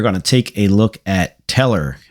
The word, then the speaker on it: Tellor: take a look at teller i believe that's how it's pronounced it is trb slash